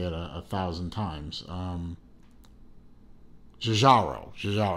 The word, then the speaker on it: Giugiaro: not Gallardo, oh hell, I know how to pronounce it. I've heard Tristano over at Urban Gentry say it a thousand times. Giugiaro.